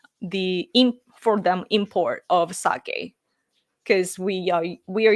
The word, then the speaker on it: sake: uh that our sakei sake the pronunciation is sake but Saki or alcohol uh that